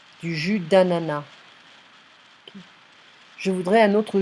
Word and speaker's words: d'ananas: So some French, they like to pronounce the S, and in general, we don't really do that. You know, it's more like du jus d'ananas. Du jus d'ananas.